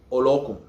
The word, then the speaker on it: Olokun: Next, Olokun. Some people say Olokun, meaning, Olo, meaning owner of, Okun, the ocean, owner of the ocean, Olokun. Emphasis on the second O, not the U.